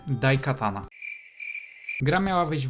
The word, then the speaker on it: Daikatana: ion Storm którego pierwszym wielkim hitem miała być daik shana Sorry za wadę wymowy daikatana gra Miała wyjść w roku 1997 Ale ciągłe